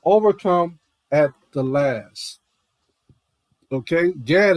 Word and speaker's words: Gad: Gad is just how it is.